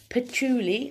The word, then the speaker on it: patchouli: on the group because none of us can pronounce it right but that's patchouli i'm just gonna throw it back in the